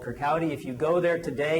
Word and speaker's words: Kirkcaldy: He was born in a town called Kirkcaldy. That's how that's pronounced in Scotland.